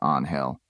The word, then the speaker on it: Angel: you is Angel Gomez she pronounced his first name with a hard J sound Gomez winced he stepped forward holding out his hand i'm detective Angel Gomez he said correcting the pronunciation to on hell this is a crime